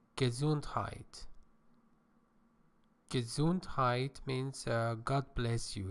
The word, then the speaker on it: Gesundheit: This is a German word. It is pronounced Gesundheit.